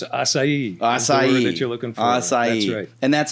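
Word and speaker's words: açaí: so I'm going to follow you so it's asai you're looking for and that's a berry it's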